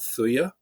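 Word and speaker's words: Thuja: there's there's a a remedy homeopathic remedy called Thuya. Uh and it's spelled T H U J A and uh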